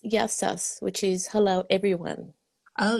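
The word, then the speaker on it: Γεια σας: Oh, I can speak a little bit more, but it's In Greek, it's yassas, which is hello, everyone.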